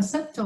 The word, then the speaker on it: subtle: Subtle, chữ subtle ở đây chữ B mình cũng đọc ha, mình đọc là subtle mà mình đọc là subtle, là tinh vi, tinh tế.